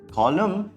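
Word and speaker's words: column: कॉलम में भी एन नहीं बोलते। मतलब कॉलम नहीं कहते हैं।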